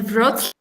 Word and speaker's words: Wrocław: Okay, from Wroclaw. Is that how you say it, Natalia? It's a Wrocław.